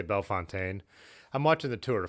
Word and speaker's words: Bellefontaine: Now, did I say Bellefontaine? I'm watching the Tour de France right now, so I'm trying to get my Western European accent on everything I say. Bellefontaine. Belle Fountain.